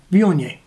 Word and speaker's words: Viognier: Viognier. A lot of people avoid this because they don't know how to pronounce it, which is heartbreaking because it's incredible.